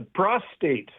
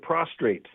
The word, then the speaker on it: prostrate: Uh, a prostate instead of prostrate.